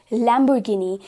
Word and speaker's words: Lamborghini: Moving on to another brand that is commonly mispronounced, that is Lamborghini. Now यहाँ पर we need to remember, as we can see over here in the image, इसे हम pronounce करेंगे as Lamborghini. Lamborghini.